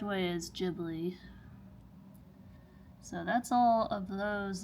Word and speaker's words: Ghibli: That is actually how you pronounce Ghibli correctly. A lot of people say Ghibli or whatever. But the correct way is Ghibli.